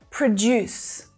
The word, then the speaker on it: produce: Produce, produce. So notice where that stress is there as well. It's on the second syllable.